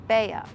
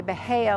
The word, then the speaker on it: Bahia: This is a street in the Pinecraft area, and we pronounce it basically 2 syllables, Bella. We don't say Bahia like you would with the grass.